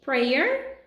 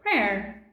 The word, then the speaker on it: prayer: Tem 2 maneiras de você pronunciar a oração. Pode ser prayer ou prayer.